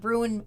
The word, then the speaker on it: Bruin: Is that how you say it, Bruin? Bruin and Destiny. Yeah, because Bruin is Brewen.